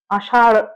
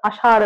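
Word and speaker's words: আষাঢ়: শূন্য র আর ঢূ আষাড় আষাড় আষার নয় আষাড় এই এই এইগুলোর ডিফারেন্সিয়েশন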